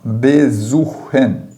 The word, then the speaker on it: besuchen: Falando em Sie, o Sie, o S, ele tem som de Z português, certo? Toda vez que aparecer o S, você vai pronunciar como se fosse um Z, como Z fosse. Já vai acontecer aqui com a próxima palavra, besuchen, besuchen, tá vendo ali?